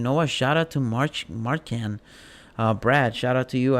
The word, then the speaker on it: Marchand: We had Brad Marchard, a Florida Panther. Sorry if I mispronounced it, but Marchand.